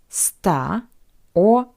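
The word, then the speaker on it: сто: numbers from 200 to 900 end with st St or S all these endings are variations of the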